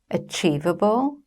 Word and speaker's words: achievable: For example, which syllable in 'achievable' is stressed? It is the second syllable: a-CHIEV-a-ble.